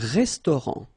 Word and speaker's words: restaurant: Final T not pronounced. Un restaurant.